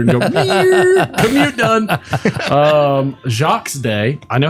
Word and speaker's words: Jacques: Um, Jacques Day.